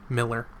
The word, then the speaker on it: Mueller: mohler from the beginning miller muller it's spelt mueller but they said miller so i'm uh she's